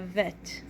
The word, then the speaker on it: vet: and we have a vet bet is with a dot that is without a dot bet sounds like be banana that sounds like V Victor let's practice writing bit